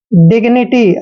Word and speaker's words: dignity: जब भी जी के बाद कोई कॉन्सोनेंट आता है तो जी का उच्चारण गे करते हैं।